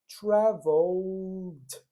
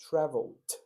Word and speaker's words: traveled: Mas no via de regraor, pessoal, o que que vocês têm que se vigiar é não pronunciem o e no final. A gente interrompe o som, né? Como assim, teacher? Travel. Traveled. Interrompi. Traveled.